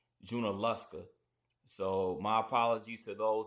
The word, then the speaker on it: Junaluska: I was mispronouncing it as Junalooa. It's correctly pronounced Junalusa.